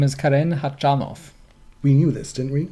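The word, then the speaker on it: Khachanov: yeah we talked Oh his name is Karen hot John off we knew this didn't we and no we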